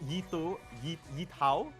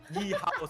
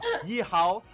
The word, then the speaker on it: Yihao: I mean, one thing I want to flag out is Yitao. Yihao. Sorry, I keep pronouncing the hard T. That's on me. Sorry, my friend. Yihao.